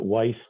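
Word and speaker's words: Wice: the project, principally Jeffrey, I think he pronounces it Weiss, W-I-C-E, who is the one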